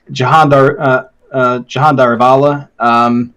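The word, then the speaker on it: Jehan Daruvala: Jahan Darivala, at least that's how he pronounces his name. Everyone else just calls him Jihan Daruvala, yeah. But to me, it's always Jahan Darivala because that's how he says his name. Yeah. It's like, okay, well, if that's how you say your name, I'm guessing that's how you actually pronounce it.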